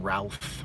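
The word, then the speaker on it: Routh: not the one with Brandon Ralph rhymes with mouth and the original Superman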